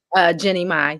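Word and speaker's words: Jeannie Mai: Jeanie Mai. Is that how you say her name? Jeanie Mai.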